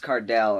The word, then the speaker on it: Cardell: was his name, and she pronounced it Cardale. She was like, "Cardale something," and he said, "Oh, it's Cardell," and she's like, "Hey, don't correct me," and the whole class is like, "What?"